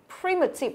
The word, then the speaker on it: primitive: Đó, primitive nó cũng có 3 âm tiết và trọng âm của nó dẫn âm tiết đầu tiên.